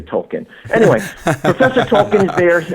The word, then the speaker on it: Tolkien: real serious about it I think you're supposed to say Tolkien like I'm keen on Tolkien having said that I